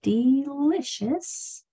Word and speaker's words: delicious: This E says E because one of the next two letters is another vowel. This I says I because it's in the middle syllable. This CI, we are going to learn. I only have TI. I might put a CI in that TI lesson. CI says shh.